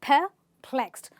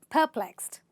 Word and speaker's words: perplexed: perplexed i am perplexed the pronunciation is perplexed not per but perplexed okay so what does that